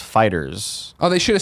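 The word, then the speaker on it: FighterZ: Dragon Ball Z game fighter Z the game creators have said it's pronounced fighters oh they should have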